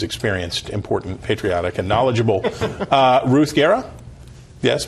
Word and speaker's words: Ruth Guerra: Ruth Guerra? Yes, pronounced correctly?